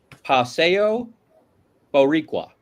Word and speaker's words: Paseo Boricua: Now, Vanessa, before we get into it, I just want to ask you, how bad was my pronunciation of Paseo Boricua?